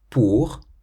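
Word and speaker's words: pour: Poor. Poor means for. We've seen this with poor ma. And so it ends in an R. So you pronounce it poor.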